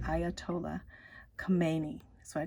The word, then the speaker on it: Khomeini: have Ayatollah this is how you say Ayatollah Khomeini that's what I call him ruholia Khomeini he